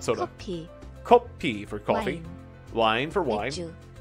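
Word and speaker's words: 커피: It's not coffee, I'd say. Kopi.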